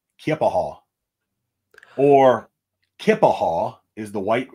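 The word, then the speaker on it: Keya Paha: and uh she said honey everybody says it wrong nobody knows how to say it I've heard kiapaha uh some folks say it's Native American I don't know exactly which tribe up there um but it's kippahall or kippahall is the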